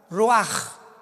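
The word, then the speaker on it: רוח: Pero la ch en el hebreo se pronuncia como J. Roaj.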